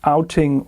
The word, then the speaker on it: OutIn: It could have been OutIn Nano, but it doesn't make any sense because it says outing with OutIn. So I think that's the right way to say it.